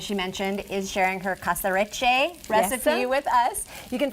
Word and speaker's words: Caserecce: I want you to pronounce it. In Italian? Yes. In Italian will be Caserecce, con scampi, asparagi e capperi.